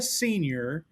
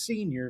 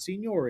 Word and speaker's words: Senior: I am here today with Sia Senior of Arrowhead Capital. Now, we were talking there briefly before the show, and she corrected my pronunciation. It is senior, not senior. It is senior.